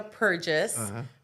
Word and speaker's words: Perjes: My name is Purges. Purges is because my husband's been he's Hungarian and uh Mexican as well. So, Purges, okay, is how you pronounce it.